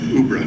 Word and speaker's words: UBRA: Retirement Benefits Authority, or as I've learned to pronounce it, UBRA.